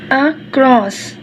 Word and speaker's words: across: The accent in the word across is on the second syllable. We could write the word like this: city, across, city, across.